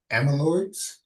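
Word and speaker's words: amyloid: well for the infusion intervention for targeting amaloids. Hope I'm pronouncing that correctly.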